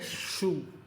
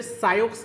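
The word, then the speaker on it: Sioux: लको and Dakota देखो इस word को हम प्रोनाउंस करते हैं शू इसे सायोस नहीं पड़े कुछ लोग इसे बहुत गलत प्रोनाउंस करते हैं बहुत गलत प्रोनाउंस करते साक्स सायोस नहीं है इसकी प्रोनंसिएशन भाई इसे हम पढ़ेंगे शू मैं इसे इंग्लिश में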